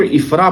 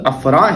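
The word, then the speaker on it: عفراء: نام کے بارے میں بہت سے لوگ اس کو افرا پڑھتے ہیں، تو اس کے صحیح تلفظ افرا ہیں، جس طرح کہ آپ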